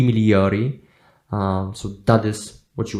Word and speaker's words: migliori: Okay, so in Italian, I think we don't really pronounce the letter G in situations like that. I might be wrong, but I think it's supposed to be pronounced I migliori.